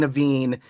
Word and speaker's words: Navin: And am I am I pronouncing it right? Is it Naveen or I'm not Naveen? Naveen. Naveen. Yeah.